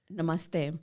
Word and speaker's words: namaste: for us but yes can you say the pronunciation again because i want to make sure i'm saying it correctly namaste namaste namaste namaste okay i'm not even gonna